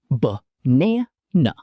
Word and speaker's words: banana: Words like banana. Buh na nuh. The first and last vowels are both schwa sounds.